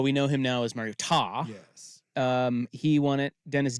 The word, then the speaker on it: Mariota: Well, we know him now as Mariota.